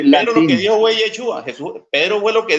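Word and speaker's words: ישוע: vamos a usar no no digamos que Jesús sino yesus creo que usted sabe eso en el griego yesus O yeshua sí en el hebreo yeshua es correcto cuando Pedro dijo allí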